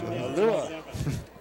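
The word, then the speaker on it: Aoelua: Alua. Spell it A-O-E-L-U-A.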